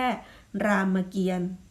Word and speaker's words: รามเกียรติ์: นะ คะ คำ ว่า รามเกียรติ์ รามเกียรติ์ นัก เรียน สังเกต พยัญชนะ เต่า กับ สระ อิ อิ ไม่ ออก เสียง เพราะ ว่า มี ตัว การันต์ หรือ ตัว ทัณฑฆาต อยู่